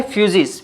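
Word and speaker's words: φύσις: उसको हम प्रोनाउंस करते हैं फ्यूजिस।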